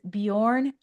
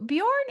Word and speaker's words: Bjorn: His name is Bjorn Ekeberg. I pronounced it right, didn't I, Bjorn?